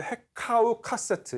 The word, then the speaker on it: 헤카우 카세트: 원래는 이제 헤카우 카세트, 이거는 이제 복수형이 붙어가지고 헤카우 카세트라고 읽는 단어인데, 뜻은 외국의 지배자들이고, 이 헤카우 카세트를 그리스인들이 힉소스라고 표기함으로써 일종의 고유명사화 된 이름이라고 생각을 하시면 됩니다.